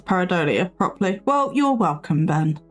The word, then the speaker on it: pareidolia: Again, you're one of the few people I've heard pronounce pareidolia properly.